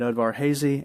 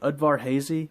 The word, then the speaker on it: Udvar-Hazy: There was two B-29s that dropped atomic weapons during World War II, Enola Gay at Udvar-Hazy, and Boxcar at the U.S.